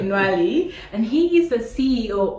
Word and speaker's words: Ntwali: I thought it wasn't TWI until I heard you pronouncing Nali and he is the CEO of Bank Innovation founded in Randa now expanding into Uganda.